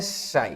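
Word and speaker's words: ψ (psi): ना इसको बोलते हैं शाई। क्या बोलते हैं इसको? इसको बोलते हैं पी एच वाई या फिर शाई बोलते हैं। पी एस एच वाई शाई है ना? पी साइलेंट रहता है इस तरह से।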